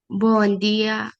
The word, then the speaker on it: bom dia: Vaya, hágame un favor, trate de decir esta parte, la de día, con más vibración, que se escuche lo de día. Buen día. Una vez más. Bom dia. Ahí está. Correcto, ese es el sonido.